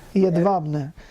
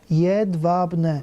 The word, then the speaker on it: Jedwabne: Jedwabne. J is pronounced like a Y. Yeah, okay. W is pronounced like a V. Jedwabne. Okay, Jedwabne.